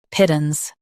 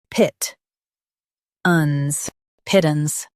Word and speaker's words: pittance: Both US and UK have the same pronunciation of this word, pittance. Now read the syllables shown on the screen naturally. Pit, uns, pittance. Stress pit and keep uns light.